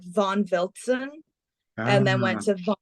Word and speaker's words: Wiltzen: So your last name is I wonder, it's pronounced Wilson, as in like the sporting goods brand, right? It's pronounced the same way. It's Wiltzen. So like Wiltzen.